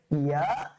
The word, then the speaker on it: ইয়া: ইয়া। ইয়াটা খুবই নরম হবে। ইয়াটা কি হবে? খুবই নরম হবে। ইয়া এবং ওয়াও। স্যার লক্ষণীয় ব্যাপার, ইয়া এবং ওয়াও, ওয়াও এবং এই ইয়াটা কি হবে বলেন তো স্যার?